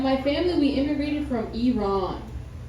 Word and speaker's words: Iran: No, we almost went to war with Iran, right?